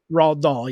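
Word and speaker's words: Roald Dahl: uh the the author Roa how do you say his name Dahl d-a-h-a raw doll yeah it's based off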